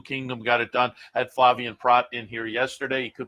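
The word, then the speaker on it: Flavien: Is it Flavian or Flavian? Flavian. I actually asked him because I said I've heard it pronounced both ways. Give me the correct. So now he said Flavian. The A is not long.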